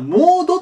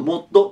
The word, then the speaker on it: mod: で、あの、モードって読まれる方もいるらしいんですけど、ま、自分ちょっと MOD 、ちっちゃい図の方でね、読むんですが、これ元々